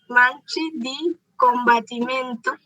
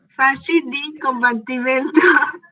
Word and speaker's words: Fasci di Combattimento: Mussolini fundó Marchi di Combattimento. ¿Esa es la pronunciación? Sí, Fasci di Combattimento, o también llamado Camisas